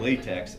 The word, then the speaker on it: LaTeX: Yeah, it's spelled latex, L-A-T-E-X, but it's LaTeX.